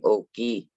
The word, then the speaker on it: Oki: of all by saying okie and um if you were to spell that in my language you would spell it with o k i our k sounds like a g but it's o g and that just means